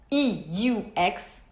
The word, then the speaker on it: eux: right now, it's written E-U-X, E-U-X, and you pronounce it E. Exactly like the letter, the alphabet letter, the neutral closed E.